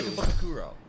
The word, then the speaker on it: Ikebukuro: Ikebukuro.